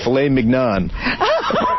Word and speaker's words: filet mignon: how about tenderly aged filet mignon? Dick, you're an asshole. You don't say, how do you say it? Mignon? Filet mignon. That's how you say it, you Moulignon.